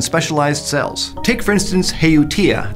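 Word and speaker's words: Haootia: Take, for instance, Heutia, that's how I think it's pronounced.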